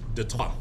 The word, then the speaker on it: Detroit: And of course, the famous city that you guys know today as Detroit, though it's French, so it actually should be pronounced Detroit.